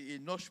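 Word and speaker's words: Hénoch: petit garçon et noche pour bien prononcer ça c'est éoche pour dit qui différent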